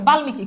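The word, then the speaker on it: বাল্মীকি: ম হয়ে গেল বুঝছো এরপর খেয়াল করে দেখো বালমিকি খুব সহজ বাল থেমে গেছো মি তারপর কি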